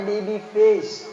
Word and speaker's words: baby face: Tulisannya babi face. Bacanya baby face.